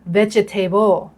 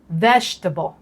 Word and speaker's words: Vegetable: คะ ก็ คือ พัก นัก เรียน ส่วน ใหญ่ จะ ออก เสียง Vegetable นะ คะ แต่ จริง ๆ อ่ะ ออก เสียง ว่า Vegetable อีก ครั้ง นะ คะ ออก เสียง ตาม เม์ นะ Vegetable โอเค ดี มาก